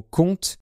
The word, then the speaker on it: compte: ensuite il y a l'orthographe du mot compte C o m p T e ici ça veut dire le calcul l'action du verbe compté 1 2 3 et cetera donc la lettre P est muette et enfin il y